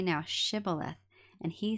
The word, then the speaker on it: Shibboleth: If he said, Nay, then they said unto him, Say now, Shibboleth. And he said, Shibboleth, for he could not frame to pronounce it right.